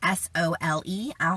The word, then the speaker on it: sole: Soleil water, which is S-O-L-E. I'll have more videos on this, but it's pronounced Soleil, but it's spelled S-O-L-E, about the benefits of pink Himalayan salt.